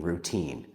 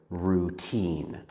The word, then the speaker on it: routine: Before I end this video, let's talk about how to pronounce the word routine. Some students let their tongue move a lot when they say. So instead of saying routine, they say routine.